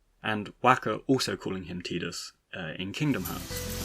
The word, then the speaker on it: Tidus: and all the people in his orbit so tidus was kind of generally adopted uh according to